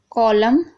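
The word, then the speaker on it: column: अब देखिए autumn, कॉलम, हिम।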